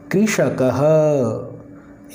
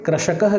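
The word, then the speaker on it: कृषकः: इसका उच्चारण करें कि कृषक हक एक बार फिर सोने कृष्ण कहल देखिए इसका अमेरिकी मात्रा लगी हुई है कुछ लोग इसे कृषक यह कहते हैं कृषक यह कहना गलत है क्योंकि इसमें जो मात्रा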